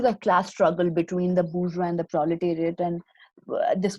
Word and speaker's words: bourgeois: So the first one is your bush, which is in singular, it is bourgeois. That is how you pronounce it, bourgeois.